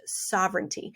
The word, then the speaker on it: sovereignty: i know there's a i know there's a g here in this word but it is pronounced sovereignty and when you think